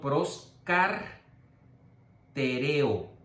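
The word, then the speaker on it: προσκαρτερέω: Pero no, es pros, con K para que se oiga el acento, proscartereo. Proscartereo. Lo estoy dividiendo para que lo puedan escribir, no se pronuncia así, tiene que ser completa, pero para poder escribirlo.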